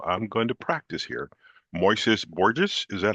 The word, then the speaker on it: Moises Borges: Moises Borges, is that how we pronounce the name?